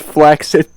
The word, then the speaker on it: flaccid: googled it and it's actually pronounced flaccid so today is sunday sunday may 22nd right